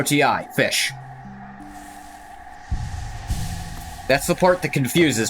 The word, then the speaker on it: Ghoti: Just realized that in my bio it says pronounced fish. Yeah, it's almost my catchphrase. It's pronounced fish.